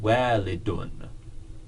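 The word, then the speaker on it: والدٌ: So this is pronounced walidun. There's no N here. We just have to understand that that little character is pronounced un.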